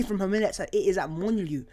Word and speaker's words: Molineux: It is at Molineux. Molineux? I can't pronounce it. Molineux.